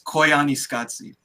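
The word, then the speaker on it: Koyaanisqatsi: it again ibrahim it's koiani scotsie it's koiani scotsie i said i said i said uh like like scotland they say it in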